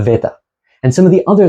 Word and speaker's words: beta: ancient Greek speakers so this beta is no longer pronounced like a b it's closer to the English V this would be more like a Veta and some of the